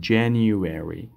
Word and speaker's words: January: این قسمت یک صدای یو را باید شما اضافه کنین. January.